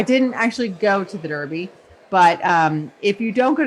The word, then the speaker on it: Derby: So Desiree, you just come back from a derby party. Is that right? Yeah, so you're pronouncing that incorrectly. Okay. It's the Derby.